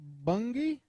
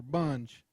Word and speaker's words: Bunge: Rodney Bungie or Bunge? I said it right the first time.